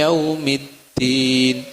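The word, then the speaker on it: يوم الدين: Maliki Yaumiddin. Yau, ya, pakai waw.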